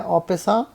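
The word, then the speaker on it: en passant: एन% capture actually French word है, उसे pronounce किया जाता है ऑपेसा।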